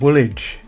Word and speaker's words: Woolwich: yeah good point you pronounced a hi a little weirdly seven be still my Beating Heart number seven it's funky old witch it's pronounced Woolwich yeah what I said